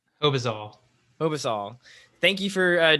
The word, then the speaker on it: Hobizal: it how do you say your last name hobazole obasal thank you for uh joining me on